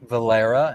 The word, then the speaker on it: Valera: I am with Ashley Valera. Am I pronouncing that right?